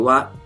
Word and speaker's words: は: learned for the Japanese language it involves the wall particle and as you can see the wall